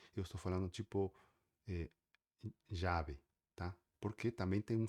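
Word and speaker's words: llave: digamos que praticamente tanto quanto o Y tem um som parecido, tá? É por isso que às vezes quando eu falo uma palavra com, por exemplo, chave em espanhol se escreve com tá? Você escreve chave, em espanhol se escreve jave com beleza? Dois ls. E eu falo jave, tá? um som mais parecido com Y, jave.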